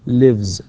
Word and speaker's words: lives: فلذلك نقول lives تكتب S طبعا ولكنها تنطق Z.